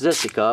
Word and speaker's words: Zessica: and it is pronounced zessica I'm looking at the Japanese and it says zessica so hey it's with the Z all right so nice